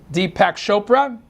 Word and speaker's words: Deepak Chopra: Deepak Chopra? Pronounced it right?